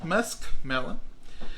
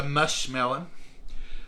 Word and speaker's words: muskmelon: that's one marshmallow down musk melon i'll always call it a mush melon because that's what we grew up with and that's just the way it is uh i've heard it's